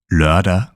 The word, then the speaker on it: lørdag: Lørdag, lørdag.